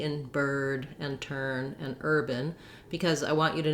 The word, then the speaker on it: urban: I can especially hear this on the vowel in the second syllable. I don't hear any A-like sound for that letter A. It's a schwa. So if anything, you're going to hear an urban, but you might hear almost no vowel at all. Urban, bin. I'm moving right from the B to the N.